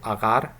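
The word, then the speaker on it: агаар: Here in the initial syllable we have a simple short vowel, short a vowel, and in the second syllable we have a long vowel.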